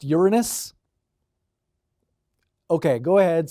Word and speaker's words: Uranus: we mention Uranus yeah it's actually pronounced Uranus okay go ahead say